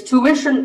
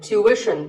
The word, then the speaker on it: tuition: It's tuition in American English and tuition in British English. So what's the hidden sound here? Well, the first syllable is easy. Tu, American, or tu, British. But after that, it's not ishin, it's wishin. Tuition. You have to put the w sound there. So, tuition. Word number 41 is this word.